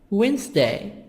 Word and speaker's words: Wednesday: Monday, Tuesday, Wednesday, Wednesday, D silent.